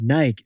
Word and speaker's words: Nike: intro to today's podcast one of the most historically mispronounced brands of all time what is it Jack yeah we've always said Nike like two syllables I feel like we